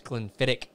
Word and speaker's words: Glenfiddich: So it's Glenfiddich and Hetcho. Oh, okay. So you were pronouncing them backwards. Okay. I thought he meant both of them. You were doing the CH to both, and they should both be the K.